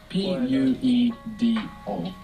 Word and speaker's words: puedo: P-U-E-D-O. Puedo. You're probably noticing as well that the D is quite soft when it comes in the middle of a word in Spanish rather than a hard D. Puedo.